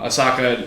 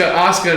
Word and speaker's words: Asuka: moved on before she came back um so Asaka or Asuka hope hope time pronounce that name ASA Asuka and Kyrie actually had the titles for 180